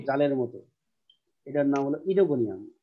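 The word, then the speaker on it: Oedogonium: ওকে, মানে পাশাপাশি দুইটা ভাওয়েল থাকলে সেকেন্ড ভাওয়েলটা উচ্চারিত হয়।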